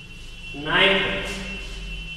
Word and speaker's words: knife: Next knife. Knife. K N I F E. F E. Okay. Night in the night. Also, K is silent.